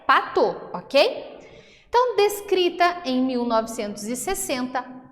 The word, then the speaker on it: Patau: síndrome de pato e eu gostaria de me retratar aqui porque em aulas anteriores eu falei para tal então a forma correta de se pronunciar é pato Ok então descrita em